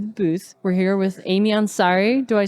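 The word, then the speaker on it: Aimee Ansari: welcome back to the booth we're here with Amy Ansari do I say it right yes okay good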